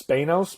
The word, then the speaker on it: Spanos: Eric I I mean it's it's Spanos because that rhymes with Thanos so that's the new way that we're pronouncing that forever they both had hatties